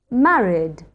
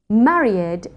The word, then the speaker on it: married: and in vowel sounds it is not a separate syllable and is pronounced /d/. robbed, hugged, managed, travelled, served, borrowed, married What comes naturally to